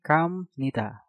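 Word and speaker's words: 갑니다: Selanjutnya, kabnida, biopnya kita rubah menjadi miem menjadi kamnida.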